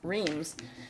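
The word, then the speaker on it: Reems: But then in one of the censuses or something, the way people pronounced it here, they wrote it down R-E-E-M-S, Reams. So you'll hear people say either Rims or Reams Creek.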